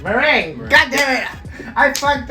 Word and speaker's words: Meringue: Meringue. God damn it! I fucked up too. Every time. Meringue. Meringue. Like See, the pie. I got it. Meringue. But I said merengue when I met you.